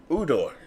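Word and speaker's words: Ujdur: Jerry Ogier, what's it? The J is silent. Udor. Sounds like the guy from Game of Thrones. Hodor.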